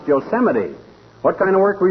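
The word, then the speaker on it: Yosemite: Uh, yosite. No, not yamite, oldtimer. That's pronounced Yoseite.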